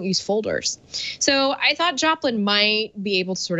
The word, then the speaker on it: Joplin: out for thought is Joplin and yes it sounds just like Janis Joplin and it's spelled like that too so Joplin is a